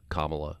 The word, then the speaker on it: Kamala: Again, I'll say that this is the high water mark right now for Kamala. Rhymes with communist, at least on that initial sound, Harris.